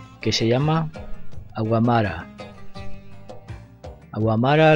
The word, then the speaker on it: Aouamra: se llama agua mar agua amara le digo yo ellos pronuncian aguanta aguanta o algo parecido del óleo tal como